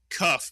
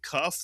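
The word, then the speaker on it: כף: With a daghesh, it is the k sound, kaf.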